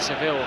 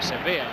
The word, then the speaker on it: Sevilla: Deportivo have been leading the championship in Spain for 17 rounds of games since November, when they beat Seville 5-2, Sevilla 5-2. Again gets touchy about the pronunciation.